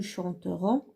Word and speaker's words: chanterons: Faites attention à la première personne de pluriel. Nous chanterons, ONS. Et la dernière personne de pluriel, la troisième personne, c'est-à-dire chanteront, ONT. Ça se prononce de la même façon.